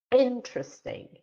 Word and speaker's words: interesting: I usually, because the stress in a word is very important, so I usually ask them to clap on a stress syllable, like interesting, interesting, interesting.